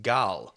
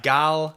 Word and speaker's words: Gal: yeah, I used to say Gadot, and a friend of mine is Israeli and told me that her first name is actually pronounced Gal. It's Gal Gadot.